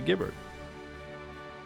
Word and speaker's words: Giberd: If the G in Gnomes is silent, it is pronounced Iberd. Oh, okay, yeah, Iberd. But specifically, the G is silent because of the GN, right? So it'd still be Giberd.